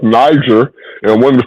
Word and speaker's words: Niger: Niger is a African country from and it's pronounced Niger even in the African language and in the Hebrew language.